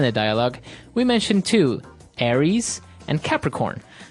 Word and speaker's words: Aries: And uh so it's pronounced Aries. Aries.